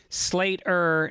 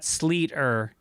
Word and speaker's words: Sleater: It's pronounced Sleater, not Sleeter.